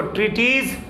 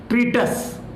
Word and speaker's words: treatise: क्या पढ़ेंगे इसको? ट्रीटीज कि ट्रेटीज कि ट्रीटाइज? इसको पढ़ेंगे ट्रीटस।